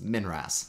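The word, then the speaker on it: MNRAS: uk and that's the monthly notices of the royal astronomical society pronounced minras and there's even a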